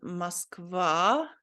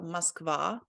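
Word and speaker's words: Москва: I think this O letter here is pronounced more like ah, because it doesn't have an emphasis on it here. So I think you're not supposed to say Moskva, but Moskva. So this is said like ah.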